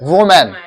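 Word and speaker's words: women: और अगर यहाँ पे ई आ गया यानी कि ये प्लूरल हो गया तो इसको प्रोनाउंस करेंगे हम लोग वीमेन. क्या प्रोनाउंस करेंगे? वीमेन.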